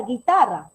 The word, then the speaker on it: guitarra: Pero si nosotros pronunciamos esa palabra, ¿qué suena en la palabra guitarra? La i.